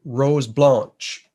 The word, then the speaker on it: Rose Blanche: and easy day sale east takes us to rose blanche is the way newfoundlanders pronounce this one and uh interesting we're sp